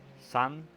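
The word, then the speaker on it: 三: uh and uh um Ki which is pronounced son and means three I'm not joking so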